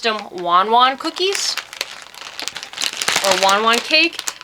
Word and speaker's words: Want Want: are super addictive now it's spelled want want but it's actually pronounced cuz she's Taiwanese she pronounced them Wan Juan cookies or one one